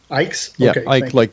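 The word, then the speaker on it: Icke: I don't know how you pronounce his last name. Ike like.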